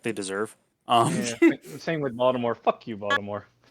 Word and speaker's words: Baltimore: like that i mean it's like baltimore you don't pronounce the t uh it's like toronto